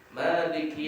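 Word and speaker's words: مَالِكِ: Maliki Yaumiddin, tulisannya Maliki, tapi dibaca panjang mim tadi menunjukkan panjang bacanya, mimnya berbaris fathah yang berdiri.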